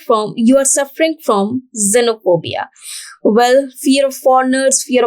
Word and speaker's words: xenophobia: is known as xenophobia though it is beginning with x it is termed as xenophobia or it is pronounced as xenophobia so foreigners or strangers